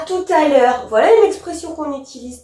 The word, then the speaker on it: tout à l'heure: c'est bien parce que le T ici fait une liaison avec le a qui est juste ici qu'on prononce ce t à tout à l'heure mais sans e donc